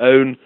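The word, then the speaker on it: pwn: in in hacker jargon it's spelled p WN for own uh ownership of uh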